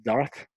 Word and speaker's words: Darth: En anglais ils disent pas Dark, ils disent Darth, TH à la fin.